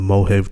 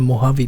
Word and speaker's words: Mojave: kid out in the Mohave Desert. And now after all these years, he's back. You mean the Mojave Desert, right? Yep. Okay. I didn't say it right.